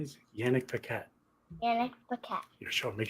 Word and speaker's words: Paquette: You know how to say it? Paquette.